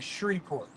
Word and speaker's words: Shreveport: No, it is 100% Shreveport. Shreveport. Shreve.